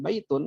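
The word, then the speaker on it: بَيْتٌ: beli lihat kerangka tulisan baitun nggak bakalan salah ya nggak bakalan Salah bacanya baya Tunjukkan atau biaya tune ya pasti baitun masjidun babun qolamun kitabun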